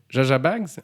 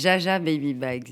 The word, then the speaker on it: Jaja Baby Bags: Donc, Jaja Bags ou Yaya Bags? Comment non, je prononce? c'est Jaja Baby Bags.